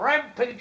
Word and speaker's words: rampage: Kong go on a rampage that's right King Kong went on a rampage use the long a sound at the end for AG age Rampage we also have this